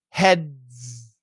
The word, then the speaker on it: heads: the tongue there head now what you need to do is from that position you got to slide down to the z heads and what happens is